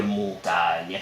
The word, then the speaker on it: Montaigne: pleure pas sur commande je m'appelle montagne mais il l'écrivait avec un i devant le G pour bien t'aider à prononcer son nom ah et c'est marrant parce qu'aujourd'hui nous l'appelons Montaigne on a préféré changer la prononciation de son nom plutôt que l'orthograhe ah